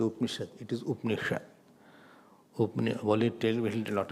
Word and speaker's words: Upanishad: So, now it is called Upanishad.